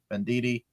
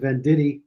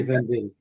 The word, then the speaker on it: Venditti: Vendidi. So the second way you said it is the way people in Italy would actually say it.